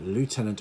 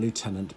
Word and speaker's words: lieutenant: In British English, we call it lieutenant. In American English, they call it lieutenant. Lieutenant is kind of how it's spelt, so that's the kind of phonetic way of saying it, but we say lieutenant.